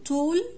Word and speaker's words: tall: كلمة tall tall طويل. short short قصير. هنا ال A دي هننطقها عاملة زي حرف ال O لأن لما بيجي حرف